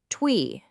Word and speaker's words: 推: So the first character is pronounced twi.